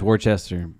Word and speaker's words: Worcester: I'm pretty sure it's Worcester.